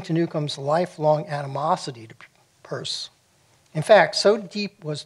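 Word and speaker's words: Peirce: Charles S Pur and it is pronounced purse made a communication on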